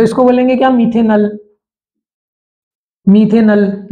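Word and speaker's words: मेथनल: मीथेनल, नल, ऑल नहीं। अल और ऑल में बहुत अंतर है।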